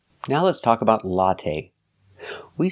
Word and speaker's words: latte: now let's talk about latte we say latte we don't say latte the last syllable is the long a a it's not stressed but we use the long a like say and pay latte make a long